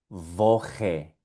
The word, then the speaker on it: Woche: La CH suena como J.